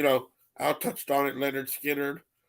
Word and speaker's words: Lynyrd Skynyrd: I touched on it Leonard Skinner pronounced Lynyrd Skynyrd um good one that